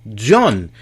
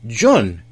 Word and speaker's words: Jan: I have a friend named John, and it's spelled J-A-N. It's like how you would say Jan, but it's John. So, not John, John. And so there's a French twist to it.